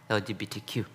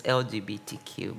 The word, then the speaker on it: LGBTQ: Now we are replaced with LGBTQ often pronounced as a single word LGBTQ.